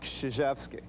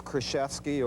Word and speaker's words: Krzyzewski: I'm Mike Krzyzewski. Coach Knight has never pronounced my name right. It's always Krzyzewski, or when I played for him, he gave me an affectionate name.